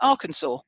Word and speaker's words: Arkansas: Now, it's Arkansas, darling. Arkansas. Oh, is it? Yes. No, it's spelt like that, but we say Arkansas.